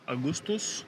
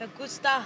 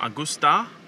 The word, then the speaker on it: Augusta: Is it pronounced Augustus? No. Augustus. It's Augusta. Augusta.